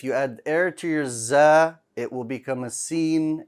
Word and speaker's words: ز: za like a z this letter is also light but this letter has no air right why do we want it to be light you don't want to be um bold like za keep it light and no air because if you add